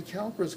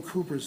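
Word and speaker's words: Cowper: c-o-w-p-e-r apostrophe has glands and most people say Calpers glands but probably the correct pronunciation should be coopered the name is a trade name what do Coopers do they make barrels here they make barrels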